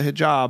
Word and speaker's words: hijab: like you wear a yamaki you have the hijab am I saying it right yes hijab yeah um if people think it's conservative because